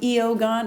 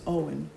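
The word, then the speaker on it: Eoghan: and she's like uh can I use your phone um eogon and she's from Boston so she's got this like egregious accent and he goes it's Owen and then he just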